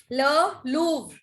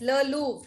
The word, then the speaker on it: Le Louvre: Just write down all the pronunciations. Le Louvre for the last time. Le Louvre. Done? Show me a thumbs up. Ma'am, Le Louvre. Yes, Le Louvre.